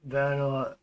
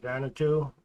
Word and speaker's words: Vanuatu: Honorable Ralph Regenevieve, Minister for Climate Change to the Republic of Vanuatu, I believe is how that's pronounced, Vanuatu, said Saudi Arabia's motion was unacceptable given the urgency we face in light of accelerating climate change.